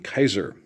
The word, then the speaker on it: Caesar: Latin but a different form of Latin pronunciation Caesar is more of like SP but the actual pronunciation and the sound of it in old the way they said it it would have been Kaiser that's why the uh Germans referred to their